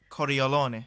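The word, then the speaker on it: Cordileone: I believe Archbishop I don't know how to pronounce his surname it's Cal of San Francisco very alone cordial loony choreo Lonnie there you go so he come out and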